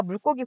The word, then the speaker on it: 물고기: 명사의 관계에 의해서 이미 가 결정이 되어 아까 물고기 보셨듯이 장소일 때 그 다음에 불고기 보셨듯이 방법